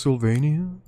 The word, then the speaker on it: Sylvania: Actually, it's pronounced Sylvania.